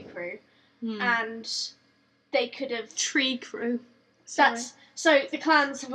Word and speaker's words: Trikru: Tree Crew? Sorry. So the clans have all got, like, names. Okay. So it's spelled differently. It's spelled Trikru, but their like fighting